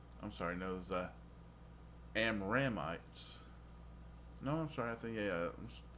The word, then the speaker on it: Amramites: And of Kohath was the family of the Amorites. The Amramites.